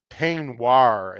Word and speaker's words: Peignoir: This is Peignoir is how it's pronounced.